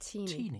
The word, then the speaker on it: Tini: It's actually pronounced Tini.